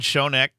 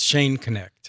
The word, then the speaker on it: Schoenknecht: But um first our very special guest Shonneck is a retired middle school. Am I pronouncing your name first? Um it's Shane Connect.